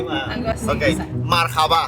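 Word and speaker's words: مرحبا: hello would be "Marhaba" With an accent on the last letter and "How are you?"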